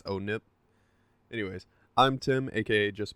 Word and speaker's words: ONIP: Now, this is not actually Halo ONIP, it's pronounced Halo ONIP, like oh no, our table, but Broken. it's ONIP.